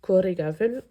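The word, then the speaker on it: Coire Gabhail: BH, ça fait VE, c'est tout ce que je peux vous dire.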